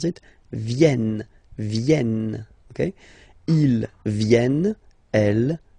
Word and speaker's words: viennent: So you've got this double N just after the E, so it will change a little bit your pronunciation. You will have to pronounce this E like okay? Ils viennent.